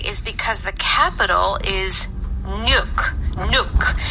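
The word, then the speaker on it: Nuuk: And the reason why is because the capital is Nuke Nuke. It's N UK and it's pronounced Nuke.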